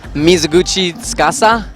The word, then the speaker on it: Mizuguchi Tsukasa: And another Japanese duo, so on the left-hand side from the females, we have Mizuguchi Tsukasa. That's exactly how I pronounced it.